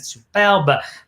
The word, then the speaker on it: superbe: The E on the end means you have to pronounce it with a French accent. Superbe.